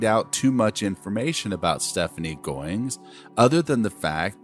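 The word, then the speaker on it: Stefnee: name of stephanie goins miss goings's first name is spelled s-t-e-f-n-e-e but i'm convinced that her mom wanted her name pronounced stephanie so that's what i'm going to call her plus it's really difficult to pronounce two hard consonant sounds together f and n don't really roll off the tongue steph knee alright so stephanie it is now it's really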